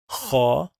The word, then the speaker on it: خ: And then let's connect it to kha.